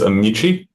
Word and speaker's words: Amici: to pronounce this correctly is it amsi or is it a me how does the how does the applicant pronounce it Mr carpman help me out there so I'm not watching I believe it is amichi amichi okay all right